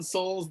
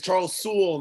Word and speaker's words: Charles Soule: As an expert on Soul's Daredevil. As an expert. Doesn't even say his name right. It's Charles Soule, not Soul.